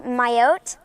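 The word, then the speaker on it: Mayotte: even heard of like I believe it's pronounced myotee which is um um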